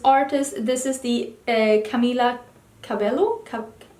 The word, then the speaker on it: Cabello: this is the Camila Cabello cup Cobell house is pronounced Cabello Camila Cabello back a bit